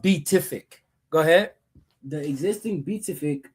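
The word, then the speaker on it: Pituffik: Leveraging its unique location to counter Russia and China, and solidifying the existing Batufik space base for Batufik. I guess I do. Beatific. I know it's a P, but it's pronounced Beatific.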